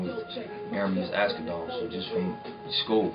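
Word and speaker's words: Ermias: It's Aramis, though. That's how you say it. Oh, that's how you say Aramis?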